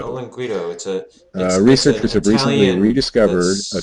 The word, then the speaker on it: olinguito: How do you pronounce that? Olinguito. Olinguito.